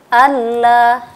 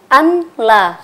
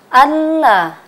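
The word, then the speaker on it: الله: Cara membacanya adalah Allah. Nah, seperti itu ya. Tidak boleh kita mendengungkan Allah. Tidak boleh seperti itu. Dan tidak juga seperti ini. Anla. Nah, itu salah ya. Yang betul adalah Allah.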